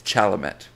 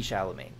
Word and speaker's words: Chalamet: and be ideal canth see chalam sh it's chalamet you swine I've never I've never even heard himself recall himself I've heard him say his name Timothy shalam no Timothy chalamet actually and then you're adri